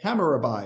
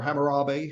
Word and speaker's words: Hammurabi: this becomes known as the hammerabai or Hammurabi however you want to pronounce his name Dynasty he's the